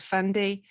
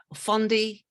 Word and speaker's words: Fendi: And his other works have included music videos and videos with brands such as Fendi, Fondi. It's a French brand, right? How do you say that? Fendi.